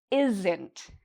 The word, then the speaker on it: isn't: Or, if I want to use a contraction, I can say: "isn't", "isn't". And notice for this, it's two parts: "isn't", and one part is louder and longer.